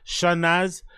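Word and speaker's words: Chanaaz: sh sh shanaz yeah it's c h a n a a a z shanaz mangr who performed as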